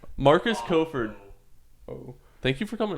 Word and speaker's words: Kofford: Because you said Crawford earlier. I totally just got Mandela just now. Like, been adding an R there for the longest time.